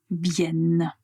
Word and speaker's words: vienne: qu'il qu' quel qu'elle vienne. Donc vous voyez pour le verbe venir comme le radical contient deux n, on va clairement prononcer la lettre n vienne.